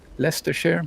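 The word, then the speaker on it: Leicestershire: this year is that how you say it Leicester share yep yeah 30 seconds so that's kind of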